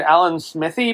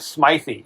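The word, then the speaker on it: Alan Smithee: I've been pronouncing it Alan Smithy, but that interview with Adam Scott I sent you. Oh yeah. He pronounced it Smythe, so I trust anything Adam Scott says.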